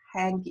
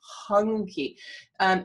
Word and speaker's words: Hunke: I know it says Hanky, it's Hunky.